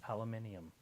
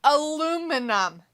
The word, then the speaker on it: aluminium: you say it I just said it it's aluminium aluminium yeah Al minum is not how you spell aluminum a l u ALU m i a num